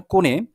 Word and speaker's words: কোণে: কনে বলতে এখানে কখনো, এখানে মানে কনে তো হবে না, কোণে।